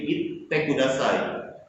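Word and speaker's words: いってください: Te di sini double. Berarti ucapannya didabelkan. Jadi itte kudasai.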